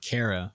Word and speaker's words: Cara: a stage combat major named Cara with a c rhyming with air and not R and it's just so